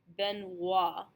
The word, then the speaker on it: Benoit: So the most common is OI, is pronounced wa.